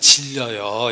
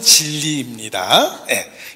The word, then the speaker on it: 진리: 발음을 잘 하셔야 됩니다. 아버지의 말씀은 질려요 이런 뜻이 아닙니다. 설교 2시간이나 하네, 질렸어 막 이러면 안 됩니다. 아버지의 말씀은 진리입니다.